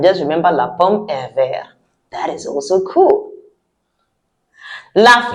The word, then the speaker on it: verte: I'm saying vert for the little ones, but if you're a senior, you have to add an E to the vert to make it vert. So we are actually supposed to say la pomme est verte.